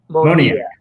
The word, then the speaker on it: Moniak: It's Moniak, right? Moniak. Mickey Moniak.